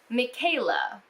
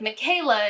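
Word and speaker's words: Mackayla: in general but like this is pretty bad michaela which by the way is spelled m-a-c-k-a-y-l-a like kill me now michaela goes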